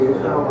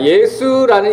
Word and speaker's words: 예수: 여호수아라는 히브리어를 헬라식으로 표현하면 예수 되겠습니다.